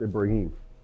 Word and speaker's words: Ibrahim: You actually are pronouncing it correct, Ibrahim.